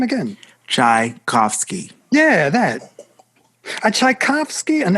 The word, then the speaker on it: Tchaikovsky: Tchaikovsky.